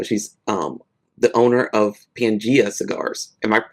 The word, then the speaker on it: Pangea: So she's um the owner of Pangea Cigars. Am I pronouncing that correctly?